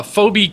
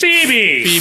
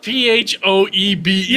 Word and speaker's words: Phoebe: I accidentally search is f photos of uh Phobe Kates. Is it Phobe Kates? Phoebe.